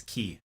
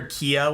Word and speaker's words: Key: how you pronounce it it's key like the key to your house i called her kia when she first came